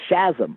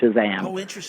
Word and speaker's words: Shazam: Captain Marvel's magic word I pronounced it uh Chasm I never said Shazam even though now I see that's a more obvious pronunciation you know but I